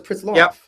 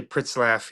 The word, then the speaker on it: Pritzlaff: Has every Did you Is it Pritslaff? I swear your voicemail said this is Pritslaff, and I always thought it was Pritsloff. Yeah, no. I I say Pritslaff, yep.